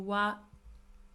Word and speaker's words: は: When we use it as a non-particle, we pronounce it as ha.